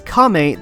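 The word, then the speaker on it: 亀: Pronounced as Kame, the kanji is also used within the name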